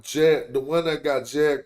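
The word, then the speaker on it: Djed: Nah, Jed like a Jed pillar.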